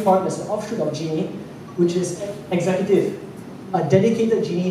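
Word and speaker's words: Djenee: It's not pronounced D-J-N-E. It's Jeannie.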